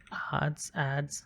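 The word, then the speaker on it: adze: So I think it's an ads. I guess it's pronounced ads if it's a homophone.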